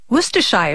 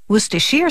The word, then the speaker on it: Worcestershire: Its name can be a bit of a tongue twister. Worcestershire sauce, Worcestershire sauce, Worcestershire sauce. All those pronunciations are acceptable, as are the endless ways to use this condiment.